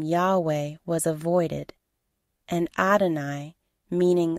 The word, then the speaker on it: Yahweh: the Christian Church affirm that the name was pronounced Yahweh many scholars believe that Yahweh derives from a